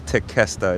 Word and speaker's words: Tequesta: Oh, okay, so it is Tequesta. It's not Tequesta. Tequesta. Got it. Got it. It cost you. Ay, Dios mío. Tequesta.